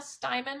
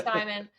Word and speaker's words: Steiman: find me on LinkedIn my name is styman my last name is spelled St E I M an so it's an unusual spelling which means you'll find me you Google me you'll find me styman um you can email me my email is